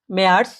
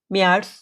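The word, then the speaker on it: März: থেকে আর এর উচ্চারণটা হবে না আর এর উচ্চারণটা উজ্য থাকবে যেরকম কিমবা আর যেটা অক্টোবর মাস অক্টোবরকে কি বলে অক্টোবা অটোবা ঠিক আছে অক্টোবা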